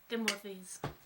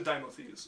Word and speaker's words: Dimothes: I am Dimothes. Timothy's. How do you spell that? Timothy? It's actually Dimothes, so it's D-I-M-O.